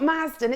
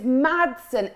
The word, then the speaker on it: Madsen: No, it's not Mazden, it's Madsen.